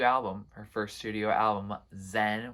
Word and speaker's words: Xen: her first studio album, Zen, which is spelled Xen. So maybe it's pronounced a different way, but I think it's Zen still.